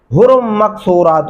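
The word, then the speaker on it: حُورٌ مَّقْصُورَاتٌ: والا طریقہ بتاؤں گا۔ حرم مقصورات، میں نے دیکھا ہے پڑھتے ہوئے اکثر لوگوں کو حرم نہیں پڑھنا، حرم مقصورات فی الخیام۔ حرم غنہ بھی کریں گے، رمق قاف کے اوپر قلقلہ بھی کریں گے، صاد پڑھیں گے، سین نہیں پڑھنا، را کو موٹا پڑھیں گے، ٹھیک ہے۔ حرم مقصورات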